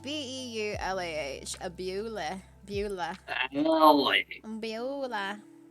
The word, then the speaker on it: Beulah: meant to be in Bewley. Bewley. It was. How was it spelled? Bewley. It was spelled how it's pronounced. Bewley.